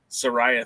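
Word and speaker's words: Saraya: Is it Soraya? Soraya, thank you so much.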